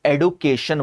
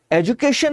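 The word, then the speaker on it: education: इसी तरीके से इंटरनेट की मैडम्स ने ये ट्रेंड शुरू किया एडुकेटर और एडुकेशन वाला। That's a टर्ली nonsense. ठीक है? एजुकेशन होती है। एजुकेशन और एजुकेटर। नॉट एडुकेटर। नॉट एजुकेशन please.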